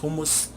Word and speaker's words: hummus: are H you mus promise it's pronounced hummus how much different people pronounce it different ways but I'm gonna add